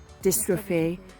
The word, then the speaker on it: dystrophy: got the same kind of how do I pronounce it, Becca? Dystrophy.